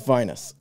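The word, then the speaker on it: vinous: Although, it was like, the comment was basically, it's not Venus as in the same sounding word starting with a P, which I won't say because I think I would get like tagged as explicit if I did that for this podcast. Anyway, it's Venus.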